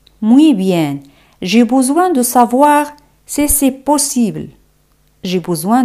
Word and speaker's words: savoir: El verbo saber en francés, savoir. OI se pronuncia como wa. Savoir.